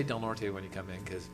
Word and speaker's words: Del Norte: Um and and Governor Brown is pronouncing it correctly too is Delnor instead of Del Norte.